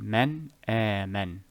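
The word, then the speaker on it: من آمن: Man aman. Man aman. Here I will say man, I will actually enunciate the letter, then segue or move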